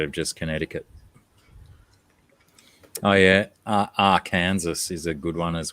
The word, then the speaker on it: Arkansas: I don't even know what foreign language you could pronounce that in that would make it Arkansas. It's Arkansas.